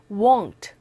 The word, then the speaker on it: won't: 입을 최대한 동그랗게 벌리시고요. won't. 얘는 그냥 want. 얘는 won't. Totally different sound.